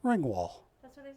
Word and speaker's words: Ringwald: Ringwall. Ringwald.